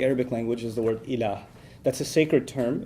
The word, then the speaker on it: ilah: this Arabic phrase, La ilaha illallah, in which there's the term ilah. If you want to write that in English, it would be I-L-A-A-H, ilah. It's pretty easy to pronounce in English, okay?